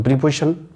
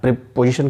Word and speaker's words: preposition: प्रीपोजिशन को हम लोग प्रेपोजिशन शुद्ध उच्चारण में कहते हैं।